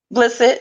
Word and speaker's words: Blissett: Okay, so Blissett, am I saying it right when I say Blissett? Blissett, yes.